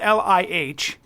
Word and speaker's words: Lih: It's spelled L-I-H. And it's pronounced Lee, right? Okay. Which would indicate probably that it's a low tone in Cantonese.